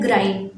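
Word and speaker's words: grind: ग्रिंड मतलब होता है पीसना, उसको ग्राइंड भी पढ़ते हैं और ग्रिंड भी बोलते हैं। बहुत सारे लोग उसको ग्रिंड पढ़ते हैं और बहुत सारे लोग उसको ग्राइंड पढ़ते हैं, बट उसका सही जो प्रोनाउंसिएशन होता है वो होता है ग्राइंड, ठीक है, वो होता है ग्राइंड।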